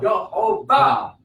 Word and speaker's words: Jehovah: The vowels tell me how to pronounce it. The yo, yuh. Yeah. The O sound under the hey is ho. Yo, ho. Then the ba. That's how I know how to pronounce it. Yo, ho, ba.